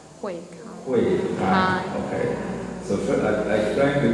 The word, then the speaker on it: Huei Kai: So it pronounced as Huei Kai. Huei Kai.